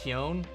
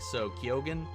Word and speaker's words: Keoghan: And it's, Keown is what he said, except he pronounces the G, so Keoghan.